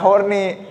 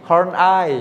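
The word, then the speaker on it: Horney: Ken Kak Ken horni Emang iya horni ini enggak horni Horn eye Hor soalnya dia keturunan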